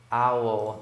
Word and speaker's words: owl: Owl, tá? Coruja tem uma pronúncia bem diferente, né? Owl. Imagina que é um cachorro, né? Aí ele tá latindo owl, owl, é mais ou menos assim.